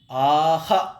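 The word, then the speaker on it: आः: அஹா அப்படின்னு உச்சரிக்கிறோம் இதுவே ஆ அப்படிங்கறதுக்கு பக்கத்துல இருந்ததுனாக்க ஆஹா அப்படின்னு உச்சரிக்கணும் ஈ அப்படிங்கறதுக்கு பக்கத்துல இருந்ததுனாக்க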